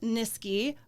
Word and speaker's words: Niskey: only the Miss nisi rhymes with whiskey and even though